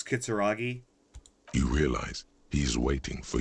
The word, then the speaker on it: Kitsuragi: just realized it i i always said kitsurugi but it's kitsuragi you realize he's waiting